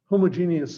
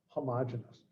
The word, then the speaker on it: homogeneous: course and talking about homogeneous systems of equations and someone corrected me so it's homogeneous well back when i was a student it was pronounced homogeneous so you can say it either way i don't care but